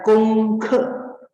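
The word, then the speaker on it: 功课: J di sini bacanya kong ke, nada kedua dan nada pertama dan keempat.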